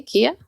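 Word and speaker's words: Keya: Kia. Yeah, that's phonetically.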